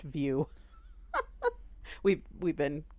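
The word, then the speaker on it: Vue: to the PlayStation boo app and apparently it's pronounced view we've we've been pronouncing it wrong way station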